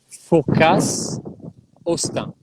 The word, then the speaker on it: Fourcas Hosten: Tell us the history of Chateau and pronounce it slowly for me. Fourcas. How do you say it? Fourcas, Hosten.